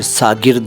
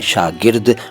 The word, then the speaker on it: शागिर्द: इसके बाद शागिर्द है, इसको कई लोग सागिर्द और सागिरद कहते हैं, दोनों गलत हैं, सही उच्चारण है शागिर्द।